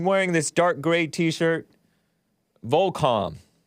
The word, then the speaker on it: Volcom: Volcom. I like pronouncing it Volcom, but some people call it Volcom.